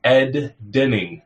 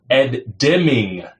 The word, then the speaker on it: Deming: Or I'm even saying his name wrong. Ed Deming. I was putting in ends there.